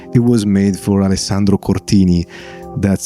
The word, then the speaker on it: Cortini: It was made for Alessandro Cortini. That's how you pronounce his name, and that's how you pronounce Strega.